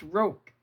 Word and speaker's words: roque: It's pronounced roke, Daddy was saying.